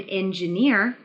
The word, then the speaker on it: engineer: very nice next in engineer the stress should be on near not engineer engineer engineer